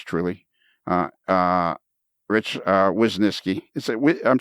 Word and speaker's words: Wisniewski: for a long time I was pronouncing it as if it was w-e-s and it's not it's w-i-s which of course is whis and then Ness and then key what is this key yeah um first